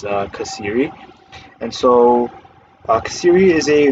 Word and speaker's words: Xeri: It is spelled with an X, but the pronunciation is Xeri.